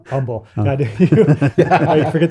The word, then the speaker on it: Humble: i said it wrong humble yeah i forget the guys in texas don't pronounce the h part so yeah and that's